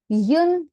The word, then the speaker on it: une: Then we have yun pom.